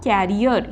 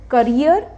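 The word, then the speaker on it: carrier: रख सकते हो तो यहां पे क्या आएगा कैरियर इसकी प्रोनाउंस एशन आप यह भी कह सकते हैं aircraft कैरियर will be arriving tomorrow क्योंकि एयरक्राफ्ट में भी सामान इधर से उधर ट्रांसपोर्ट किया जाता है सो करियर एंड कैरियर okay no mistake from now ऑन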